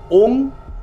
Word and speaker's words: ওম: আচ্ছা, উচ্চারণটা ওং বলবে না ওম বলবে? ওম বলার কথা যে হচ্ছে সাধনা, অনুস্বর।